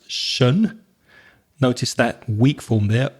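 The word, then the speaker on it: -tion: So the suffix, the bit that comes at the end could be t i o n, which is pronounced shun. Notice that weak form there, uh, so it's shun.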